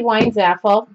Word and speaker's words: Weinzapfel: I'm Weinzaffel, and that's, the P is silent.